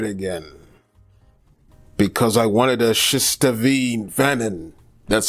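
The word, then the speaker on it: Shistavanen: Because I wanted a Shistavine Vanin.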